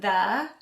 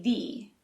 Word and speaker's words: the: for this next one we can either pronounce it the or if we want to emphasize it we can say thee the what is the